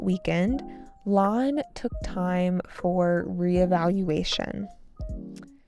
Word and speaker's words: re-evaluation: During this quiet weekend, Lon took time for re-evaluation. Reealation with a stress on the fifth syllable.